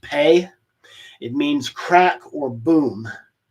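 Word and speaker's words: phat: Mantra P very often spelled p h a t but pronounced pay it means crack or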